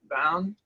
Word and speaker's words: Bowne: i i want to congratulate you on pronouncing my name correctly that is so rare so so thank you so um it is bowen hi everyone i'm a